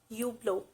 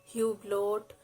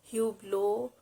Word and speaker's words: Hublot: swiss watch brand it's you blow you blow it's not you bloat you blow or hublot it's you blue the h here is silent you blow the